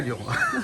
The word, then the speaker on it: Lions: Après ça dépend si on le prononce à l'anglaise, mais nous c'est Lions. C'est Lyon.